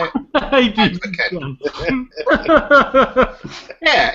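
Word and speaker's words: Advken: Advoken. Advoken, yeah, is that how you say it? Advoken.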